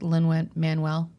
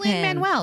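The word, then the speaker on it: Lin-Manuel: whatever I love it it's Lyn Manuel isn't it is it Lyn Manuel I think he pronounces it Lyn Manuel Shar I was like no I was like I think dialect thing yeah ly Manuel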